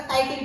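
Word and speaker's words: chitin: So next याच्यामध्ये तुम्हाला आता त्यांनी ह्याच्यावर विचारला कवकांचं कशापासून तयार झालंय, तर कायटिन पासून तयार झालंय. कायटिन म्हणजे त्याची स्पेलिंग चिटिन आहे.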